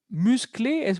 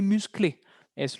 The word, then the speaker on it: musclée: Aquí sí vamos a agregar una E, pero es muda. Entonces, elle est musclé. Es lo mismo.